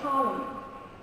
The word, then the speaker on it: column: And is not not pronounced when it follows an M. So I say a column.